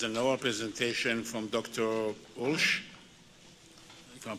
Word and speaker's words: Ulsh: submission which is an old presentation from dr walsh you can pronounce it right yes as outlined in cmd 15h 2.120 dr bush the flow is yours thank you president bender good afternoon my name is alsh and i would first like to thank the